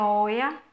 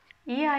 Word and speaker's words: Oia: Quando a gente tem essas duas letras, o e i, e a letra I tem um acento, essas duas letras fazem o som de I, então não é Oia, é Ia. Ia é um vilarejo na ilha de Santorini de quase 800 habitantes.